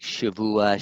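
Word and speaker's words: שבוע: Most people pronounce it with a vet, especially in those who know Hebrew really well. Say like Shavua, Sheba, whether it be 7 or week.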